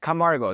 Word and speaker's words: Camargo: You did it right. Camargo. That's perfect. Perfect. Camargo. Excellent.